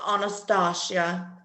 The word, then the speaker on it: Anastasia: It's pronounced Anastasia.